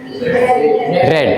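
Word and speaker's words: read: तो newspaper is अब रीड का वी3 क्या होता है? रेड है ना? स्पेलिंग सेम रहती है लेकिन प्रोनाउंसिएशन जो है वो चेंज हो जाता है।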